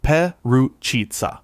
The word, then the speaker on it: Perućica: Number nine, Perućica, Bosnia and Herzegovina. Pronounced Pe-roo-chi-tsa.